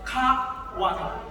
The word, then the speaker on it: Kawali: Dibacanya jangan sekaligus Kawali, tapi Kawali.